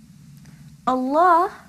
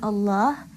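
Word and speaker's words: الله: Allah, the lam in Allah can be pronounced either heavily or lightly.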